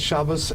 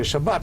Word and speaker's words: Shabbat: which came earlier but the Ashkenazi Hebrew says Shabbos in Israel is a Shabbat which is a sort of North African Jewish Sephardic pronunciation in any case so